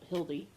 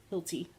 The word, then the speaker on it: Hilty: One of mine would be Megan Hildy. Is that how you say her name? Hilty.